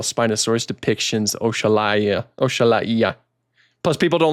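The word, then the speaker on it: Oxalaia: People don't like how I pronounce it either, but I think I'm pronouncing it the correct way because it's based off of the African deity known as Oshala.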